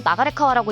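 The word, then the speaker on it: 流川: 히로시마에는 서태웅, 일본성 루카와와 같은 한자를 쓰고 나가레카와라고 읽는 지역이 존재합니다.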